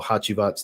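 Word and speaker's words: Hacivat: a little bit of hasabat well hachibat's technically the right way to say it hachibat and aventis but it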